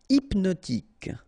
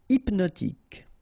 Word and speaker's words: hypnotique: Hypnotique. Remember, at the end, Q-E, K. Tic. So H is not pronounced. Hypnotique. Hypnotique.